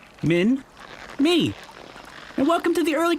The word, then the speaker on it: Minmi: Hi, my name's Minmi. It's very easy to say. Min, me.